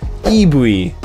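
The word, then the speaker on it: イーブイ: sorry i'll say it i'll say it properly it's uh ibuy made up of the first two letters of evolution said in a japanese fashion eevees of all forms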